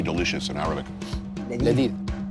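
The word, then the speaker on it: لذيذ: Ladid. Ladid?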